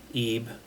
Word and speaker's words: Ib: game and it's called EB it's pronounced EB spelled IB uh and this I